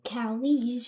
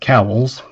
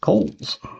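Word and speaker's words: Cowls: If you say it without the W, you would be right. And if you say cowies, you're wrong.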